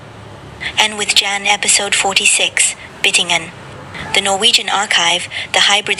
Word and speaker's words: Byttingen: Byttingen is how we pronounce it in Norwegian. In Trøndersk, where I am from.